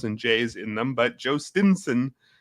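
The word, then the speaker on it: Jhostynxon: But Joe Stinson is how baseball reference is telling us to pronounce it.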